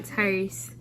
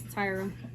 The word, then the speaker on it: Tyra: My name is not Tyrese. My name is Tyra.